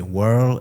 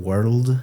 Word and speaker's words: world: You also sometimes don't pronounce the final consonant, so you'd say whirl instead of world.